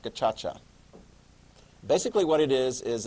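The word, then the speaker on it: gacaca: okay so that's a backlog so Rwanda sets up a new special Criminal system called gachacha it looks like Kaka but it's pronounced gachacha basically what it is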